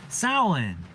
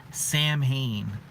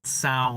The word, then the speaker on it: Samhain: this video I'm going to be talking about soin aka Halloween it's Halloween today happy Halloween everybody merry soin that's if you're wondering the pronunciation looks like it's supposed to be Samhain but that's actually one of the first things